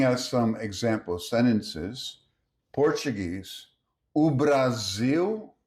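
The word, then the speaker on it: Brasil: Next, the final L sounds like oo in Brazilian Portuguese.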